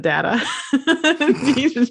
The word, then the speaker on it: Data: I would like to be able to, off the top of my head, teach Data. I almost said data. You can say data. Teach that's Data. That's still a valid pronunciation.